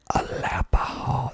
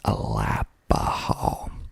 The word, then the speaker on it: Alapaha: later next we have alapaha this is a good one aapol spelled a l a p ah h a a lap AA I don't know where